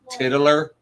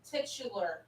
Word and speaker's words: titular: don't pronounce it wrong titler titular titular he threw at this